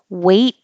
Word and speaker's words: weight: Weight, as in heavy, is the same pronunciation as wait a minute.